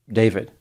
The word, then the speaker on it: D4vd: He used the name D4 V D, which he pronounces as David. I pronounce it as D4 V D because the number four is pronounced four and the I is missing.